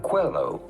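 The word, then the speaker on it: Coelho: about pronouncing his name Paulo Quello Paulo Quello pretty straightforward once you know Paulo hello Quello Google is so smart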